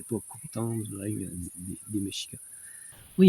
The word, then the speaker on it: Mexica: 16e siècle, c'est les Mexicas. Dans la langue soi-disant aztèque qui s'appelle le nahuatl, le X se prononce comme ch.